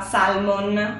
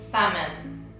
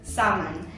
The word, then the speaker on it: salmon: pronunciare spesso la parola Salmon e non è Salmon ma è samon samon samon quindi la L scompare due parole che vi